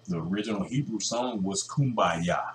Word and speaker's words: Kumbaya: original Hebrew song was Kumbaya said Kumbaya but it was English uh changed into English thing what he said no it really meant is the real pronunciation was come by here no it was Kum